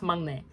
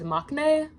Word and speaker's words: 막내: I didn't know it was pronounced 막내. On TikTok, and yes, I'm using TikTok as a source, which is not good. I always heard it pronounced as maknae.